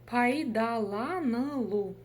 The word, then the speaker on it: пайдаланылу: Слово пайдаланылу. Здесь нет ничего сложного, просто разделили по слогам и прочитали. Пайда, пайдала, пайдаланылу. Буква «ы» читается очень коротко, да? Помним об этом.